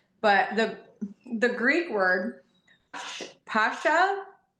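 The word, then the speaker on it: Πάσχα: this, I'm sure, but the the Greek word Pascha p a s c h a It's typically pronounced Pascha in the in Okay.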